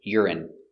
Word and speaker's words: urine: They're the same pronunciation urine. Yur I I urine stress on the first syllable.